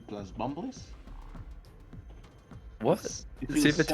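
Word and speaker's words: Bumbliss: Super Tetris 2 plus Bumblies. What? It feels Super so Tetris good. 2 plus Bumbless? Bumblies, yeah, like bump and then less, which is spelled LISS.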